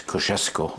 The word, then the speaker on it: Kosciuszko: The true pronunciation is Kosciuszko.